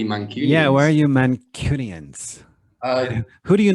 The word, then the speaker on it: Mancunian: called the mancunian okay pronounce that slower for our listeners mancunian yes like a mannequin uh you could say